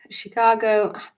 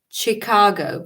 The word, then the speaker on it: Chicago: good morning from Chicago you always want to say say Chicago because in in Russian and Latvian you pronounce like CH sound so I always go and then have to correct myself to say Chicago we have shelter in